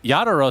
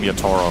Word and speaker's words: Yatoro: doing that lately yeah yaduro sounds it's like super awful American accent you know I feel like I've called him yatoro for quite a long